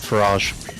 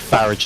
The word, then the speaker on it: Farage: Also, you want to call it Farage, not Farage. Farage is French. Farage is how you correctly pronounce it.